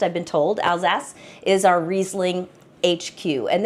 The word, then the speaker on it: Alsace: But Alsace, and that's how it's pronounced, I've been told, Alsace is our Riesling HQ.